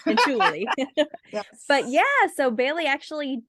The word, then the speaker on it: Cianciulli: That's how you say it. Cianciulli. Yes. But so Bailey actually did Leonardo Cianciulli on her last murder mystery makeup Monday.